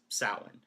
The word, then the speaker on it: Samhain: Um, if you're familiar with like ancient Celtic folklore, Halloween to them is known as Samhain, but it's pronounced or it's spelled Samhain, Samhain, but it's pronounced Samhain.